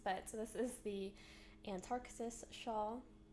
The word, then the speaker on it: Antarctis: So anyways, this is a big tangled mess, but so this is the Antarctis shawl, it's so beautiful, and I almost always say it wrong. I always want to say Antarctic.